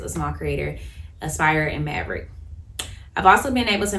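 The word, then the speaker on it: Mavrck: on there another platform that I use is Maverick um so Maverick and I'll put that it's spelled m a v r c k Maverick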